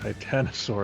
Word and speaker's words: Titanosaur: Okay, let me see if I can pronounce it. Titanosaurus. Is that how you say it? Titanosaur. That's it. Titanosaur.